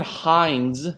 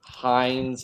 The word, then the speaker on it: Hinds: So Ciarán Hinds with a D is correct. Hines, Hines, is not. So I'm only able to give that point to David. The D is pronounced in the name.